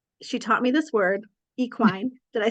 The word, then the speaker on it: equine: She taught me this word, equine.